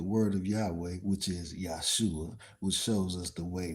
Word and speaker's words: Yeshua: It's pronounced Yesua. In English you say Joshua.